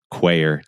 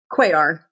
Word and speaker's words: Cuellar: Quayer. Did I say it right? Quayr.